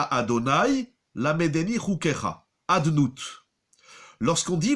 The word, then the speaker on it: Adonai: On ne dit pas Yud Ke Vav Ke avec les voyelles, on va le lire Adnut, Adoni, Baruch Ata Adonai, Lamedeni Chukecha, Adnut.